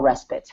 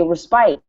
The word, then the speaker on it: respite: to take a small respit like a break or a pause in the activity but the the pronunciation is totally different so when I read that word I want to say respite not rest because of